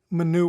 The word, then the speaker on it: minute: okay so minor waves minute waves you spell it like minute but you pronounce it minute is the way we do it okay